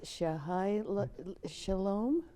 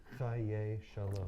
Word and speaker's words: Chaye Shalom: And I always pronounce it wrong, Dave Rothman, so it's Shahai Shalom? Chaye Shalom. Chaye Shalom.